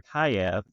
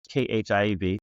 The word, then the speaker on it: Khaev: The fourth one, the third one is our Khaev, Khiev. It's a Hmong word, Asian Pacific word, meaning to evacuate. It's a detox drink. Evacuate. Okay. Yeah, it's pronounced Khaev.